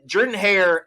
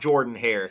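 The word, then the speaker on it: Jordan-Hare: It's not Jordan Hare. It's Jordan Hare. I know there's an O there. Just pretend it's an E, okay?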